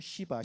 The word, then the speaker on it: 시바: 힌두교는 크게 3명의 신인데 브라만, 비시누, 시바. 시바는 발음을 조심하셔야 됩니다. 발음을 연하게 하셔야지 세게 하시면 이상해집니다.